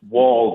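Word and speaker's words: Woll: It's Wall, W-O-L-L, but hey. It's how you say it, not how you spell it.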